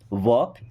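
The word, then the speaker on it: walk: क्या आप वॉक? देखिए यहां पे एल साइलेंट।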